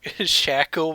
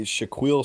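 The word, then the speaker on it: Shaquille: mentioned this before but I used to call Shaq sh shacka while O'Neal Shack o Neal instead of sh that's really yeah pretty good uh pretty good mispronunciation Shaquil Shaquil shaa that's actually Shaquil sounds like that's how it's supposed to be yeah I don't know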